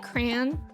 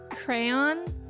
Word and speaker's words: crayon: ways to pronounce it I say it like crayon and I and I think you can say it like crayon yeah and cranes right soes